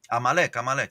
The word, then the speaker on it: Amalek: Amalek.